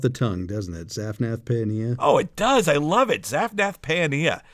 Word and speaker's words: Paaneah: But as a rule, you may want to, if there's multiple vowels, go ahead and pronounce both sounds. So for example, Zaphnath, no problem. But Paeania, you're essentially looking at two different A sounds, pa and a. So Paeania. But if you say Pania, that's fine too.